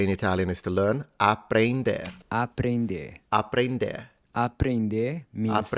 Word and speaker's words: aprender: Aprender. Aprender. Aprender. Aprender means to Aprender. learn. Aprender. So the first thing that might jump out at you is the pronunciation of the E. Yeah, N, it's like ain.